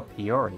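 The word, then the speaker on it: Piyori: Oh, Peori, that's how it's pronounced.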